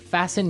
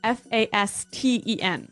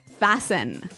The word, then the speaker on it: fasten: Fasten means to do up.